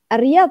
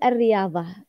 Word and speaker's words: الرياض: يعني مثلا اسم مدينة الرياض على سبيل المثال، الرياض تكتب بالضاد وليس الضاء، لكن لا تجد أحد أبدا ينطقها بالضاد، لا تقال الرياض، يقال الرياض، وإذا قلتها أو نطقتها بشكل صحيح سيتم الضحك عليك. رياض، كيف يعني رياض صحيحة كده؟ رياض. هي الرياض صحيحة، لكن نحن لا نقول الرياض، نحن نقول الرياض.